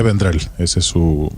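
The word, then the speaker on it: Vendrell: la versión catalana Xavier vendrel Ese es su aunque esa elle del final de vendrel tiene una pronunciación catalana que yo no alcanzo y desde luego sin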